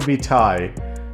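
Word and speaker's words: vitae: CV which stands for curriculum V TI uh apparently that's how they say it in Europe in America we just say resume anyway after reading Leonardo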